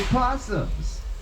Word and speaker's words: opossums: marsupial, those fabulous little opossums. And yeah, I know the O is silent.